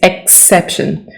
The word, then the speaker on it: exception: Don't forget to pronounce the X, okay? It's exception. Race.